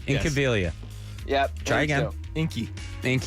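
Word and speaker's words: Incaviglia: teams it was pete incoviglia and milt thompson so they signed those two wait say that say pete's last name again i think of incoviglia in cavalia there's the g is silent in cabelia yep try again inky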